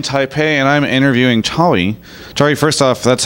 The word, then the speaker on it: Chawy: Chawy, first off, that's how I say it, right? Yep, I'm Chawy. Okay. I always like to make sure I get the pronunciation right.